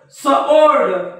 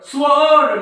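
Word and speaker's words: sword: silent आहे आपण असं म्हटलं का स्व ओल्ड सल्ड स्वर्ड नाही सॉल्ड सॉल्वड सॉल्ड म्हणजे डब्ल्यू चा काही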